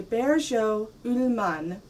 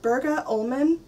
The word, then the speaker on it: Bergå Ullman: / I'm going to try to pronounce the name correctly but then I'll say it the way an English person would it's a bear show Moomin loom it looks like Berga omen with a little circle over the a in